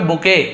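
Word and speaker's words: bouquet: आप एक्सेंट में जाएंगे अमेरिकन में तो उसे केवल बुके ऐसे बोलते हैं बुके आपने सुना होगा बुके ऑफ़ रोजेज़ ऐसे पढ़ा जाता है और बुके पढ़ेंगे सही है बट लिखा टी है साइलेंट लेटर जैसे होता है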